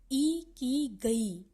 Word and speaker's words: ikigai: में प्रभाव डालता है इकी गाय का उच्चारण इ की गई जापान में विकसित एक